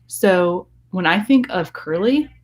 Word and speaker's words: Curley: when I think of Curley it rhymes with this surly he is surly he